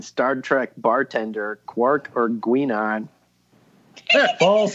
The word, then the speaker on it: Guinan: From Beside a Geek regarding Star Trek bartender, Quark or Guinan? False, it's Guinan. Well, we wanted Jason to try to read it. Bonus points if Jason pronounces those names correctly. Quark and Gina.